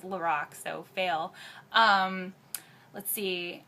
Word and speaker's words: LORAC: to pronounce that by the way i've been pronouncing it lorac and it's lorac so fail um let's see uh what else